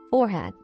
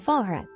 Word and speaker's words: forehead: The word forehead may be heard as forehead or forehead.